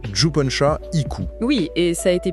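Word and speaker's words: Jippensha Ikku: Et c'est un texte monumental qui a été écrit par Juponcha Iku, ce qui se prononce Juponcha Iku.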